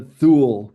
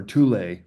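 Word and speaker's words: Thule: the paternity to the Thu Society or Tulle, T Hu L E, depends how you pronounce it.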